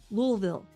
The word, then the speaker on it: Louisville: Louisville, that's how you say it.